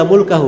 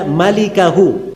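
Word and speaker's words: مَلِكَهُ: Itu bukan bacanya illa mulkahu. Memang mim lam kaf ha. Tapi bukan mulkahu bacanya. Bacanya illa malikahu.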